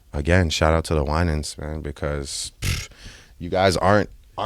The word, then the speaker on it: Winans: The Winans. Thank you for helping with my pronunciation.